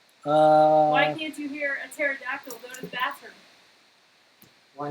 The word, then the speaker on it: pterodactyl: Why Why can't you hear a pterodactyl go to the bathroom? Why not? Because the P is silent.